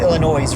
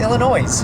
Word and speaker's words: Illinois: I think it's pronounced Illinois, right? No. Illinois? No, that sounds correct. Illinois. I mean, seriously, why would the S be silent?